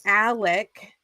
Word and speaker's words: Alex: And Alec is spelled Alex, but it is pronounced Alec.